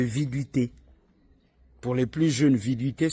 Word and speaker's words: viduité: le délai de viduité pour les plus jeunes viduité s'écrit V I d u i t accent aigu